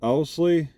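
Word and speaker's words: Owsley: spell is that right Oley you pronounce it ousley well he was there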